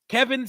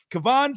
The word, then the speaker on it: Kevon: squad they've signed cornerback Kevin Seymour Kevin or cavon it's spelled with an O if it's Kevin I'm annoyed but cavon Seymour their practice squad